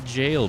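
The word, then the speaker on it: Gael: it's Gaya come here it's it's jail but it's it's spelled g a e l or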